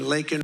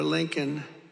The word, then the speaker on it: Laken: And then he pronounced her name wrong. Remember, he called her Lincoln. Remember that? In Congress, he called her Lincoln, didn't even have the respect of knowing her name.